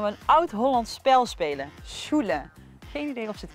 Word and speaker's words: Sjoelen: Can you pronounce it? Sjoelen. Sjoelen. Sjoelen, okay, nice, nice, nice.